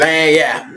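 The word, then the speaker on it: lagniappe: Lanyap.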